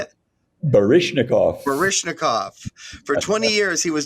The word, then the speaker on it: Baryshnikov: Baryshnikov.